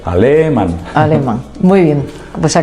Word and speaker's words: Aleman: Es sin tilde, es llana, acaba en N, no lleva tilde. Alemán.